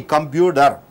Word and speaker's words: computer: what is there so t is followed and preceded by a bubble t is converted to d computer you say computer computer computer Enter.